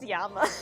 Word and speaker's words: llama: So yeah, llamas are just named names, and it's pronounced Yama.